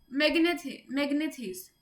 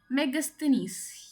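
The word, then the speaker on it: Megasthenes: मैग्नेथिस, मैग्नेथिस, ठीक है, तो इसकी प्रोनाउंसिएशन यही होती है शायद, इफ आई एम not wrong, मेगस्थनीस या कुछ ऐसी भी होती है, पढ़ लेना यार इसको, ठीक है, मेगस्थनीस, यस यही है ना, मैग्नेथिस नो टंग ट्विस्ट हो जाती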